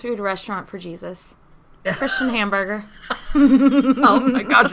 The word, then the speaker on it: Hamburger: Denmark named Dr Christian hamburger I think it's pronounced like Hamburg or something like that but I like hamburger